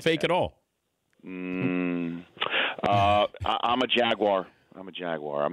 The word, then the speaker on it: Jaguar: Jaguar. That's Jaguar. Yeah, so they Jaguar. have 3 syllables. Yeah. I don't get Jaguar. Well, the British don't pronounce the second A. It's Jaguar.